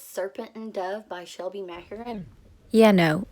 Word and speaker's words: Mahurin: The next book I purchased is Serpent and Dove by Shelby Mahurin. Yeah, no, it's pronounced Mahurin.